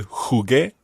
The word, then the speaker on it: jugué: And what would happen to the jugué? You would need a UE. Exactly. You would spell that Jugue acute. Jugué. Jugué. But the U is silent in there.